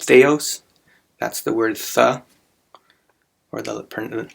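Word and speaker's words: θεός: the it's actually pronounced theos that's the word the or the the first letter is the th sound and of course we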